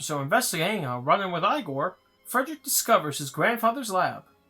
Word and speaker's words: Igor: arrives Frederick meets eigor now it's pronounced igore um igore his new